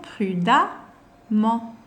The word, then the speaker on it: prudemment: On prononce toujours prudemment.